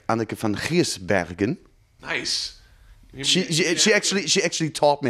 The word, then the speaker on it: Giersbergen: When you work with guest musicians like Anneke van Giersbergen... Nice. She actually taught me how to pronounce it. Anneke van Giersbergen?